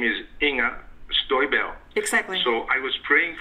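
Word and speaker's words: Inger Støjberg: You know, her name is Inga Stoiberg.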